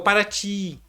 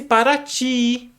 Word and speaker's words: Paraty: É como se fosse Paraty, que significa água que corre. Aí o linguista achou por bem utilizar o Y para representar essa pronúncia. O I longo, o I dobrado, esclarece uma técnica da